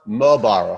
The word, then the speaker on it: Muehlbauer: to the show mobaro how are you doing awesome thank you for having me and congratulations for pronouncing my weird german name in uh such a professional way i just realized we